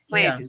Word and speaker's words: PlantIn: Planting. Spell that. U like just like it sounds. Plantin. P L A N T I N.